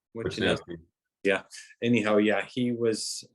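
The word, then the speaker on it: Wishnowsky: Wisnowski, is that how you say his name? Wisnowski.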